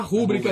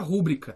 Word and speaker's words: rubrica: maluquice tona é e o assento é assim a sílaba tônica no brasil então é pública a palavra pública não existe palavra rubricas a errado e rubricas significa significa